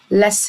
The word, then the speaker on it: listen: الكلمة دي عندنا أول حاجة الحرف التي ده مش هننطقه، نحط تحتيه إكس، غلط، مش بننطقه silent. يبقى الكلمة اسمها lesson منطقش حرف التي.